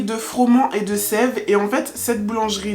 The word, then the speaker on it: Froment et de Sève: boulangerie froman de sève je juste vérifier que je prononce bien le nom donc c'est la boulangerie de froman et de sève et en fait cette